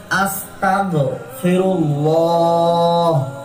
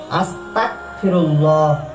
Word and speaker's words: আস্তাগফিরুল্লাহ: করতে হবে, যেমন আস্তাগফিরুল্লাহ, এখানে আরবিতে গয়ন এবং বাংলায় আস্তাগ গ উচ্চারণটি হবে। এবং ভুল উচ্চারণের যেটি দেখতে পাচ্ছি আমরা, সেটি ভুল উচ্চারণে আমরা অধিকাংশ করে থাকি আস্তাগফিরুল্লাহ। সুতরাং আরবিতে কাফ এবং বাংলায় ক এটি উচ্চারণ করি, এটি সম্পূর্ণ ভুল।